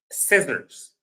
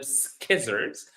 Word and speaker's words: scissors: Because there is a C that's not pronounced. I hear a lot of people pronouncing them skizards and that's absolutely wrong.